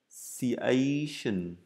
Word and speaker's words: negotiation: Negotiation, cho âm rơi vào chữ A này.